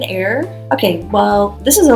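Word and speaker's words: Eyre: E Y R E like Jane air.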